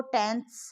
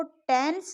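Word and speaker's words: tenths: इसको टेंस नहीं बोल रहे हैं, टेंथ पार्ट है उसका, 10वां हिस्सा।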